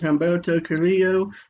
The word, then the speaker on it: Humberto Carrillo: It's champion Drew Gulak versus Lince Dorado versus Humberto Carrillo.